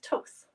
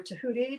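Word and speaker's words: Thoth: with anubis or with toth uh onpu or tahuti depending on like how you want to pronounce that uh all of you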